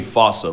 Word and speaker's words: fossa: Bane to lemurs everywhere the fusa although with its spelling I'm pretty sure it's actually fossa but the day I pronounce it like that is the day I lay my childhood to rest the foosa is pretty